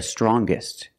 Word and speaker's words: strongest: Or the youngest, the strongest. When we change these adjectives with ER or with EST, we're going to pronounce the g sound, the hard g.